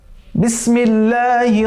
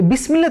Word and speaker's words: বিসমিল্লাহ: দেখুন আমরা কিন্তু অনেকেই এই বিসমিল্লাহ তেলাওয়াত করতে ভুল করি। পড়তে হবে বিসমিল্লাহির রহমানির রহিম। এই যে বিসমিল্লাহ, অনেকে আমরা কিন্তু পড়ি বিসমিল্লাহ, বিসমিল্লাহ, নো, বিস বিস, এই সিনের সাথে সাথে একটা আওয়াজ বের হবে।